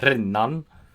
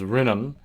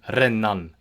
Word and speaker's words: rennan: And finally, when consonants are doubled, you would pronounce them as as you would in an Italian and Swedish, according to Joseph Wright. So if you see a word like rennan, you pronounce it as that.